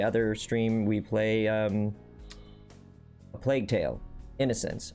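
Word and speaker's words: A Plague Tale: Innocence: stream we play um a plague tale innocence i said it right this time chad i didn't add the s to the end i didn't say plague's tale yes progress so we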